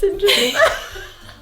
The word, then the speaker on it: St. John: And we just say they're both pronounced Sinjin.